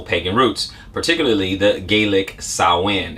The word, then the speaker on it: Samhain: roots particularly the gaelic sowen it looks like samhain right but it's always other